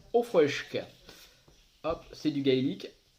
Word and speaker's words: Auchroisk: pour arte kaskelot froid sq alors attention a prononcé au frêche cas optent c'est du gaélique voici donc c'est